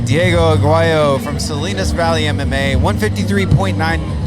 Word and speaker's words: Aguayo: It's pronounced Diego Aguayo. I want to say Aguayo.